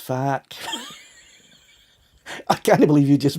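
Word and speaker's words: FAAHQ: fight against fa regulation it's called f-a-a-h-q pronounced fact i can't believe you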